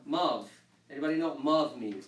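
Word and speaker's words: ⲙⲁⲩ: So this letter is pronounced as a V. So the whole word will be pronounced Mav.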